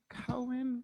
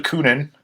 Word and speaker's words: Kunin: It is actually Kunin. It is more weirdly racist than you pronounced it.